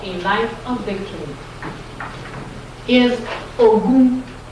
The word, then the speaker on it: Ogun: Third principle for third social principle for a life of victory is Ogun. Ogun. O-G. G is like in joy. Is G or J? That's G. O-G-O-U-N. Ogun.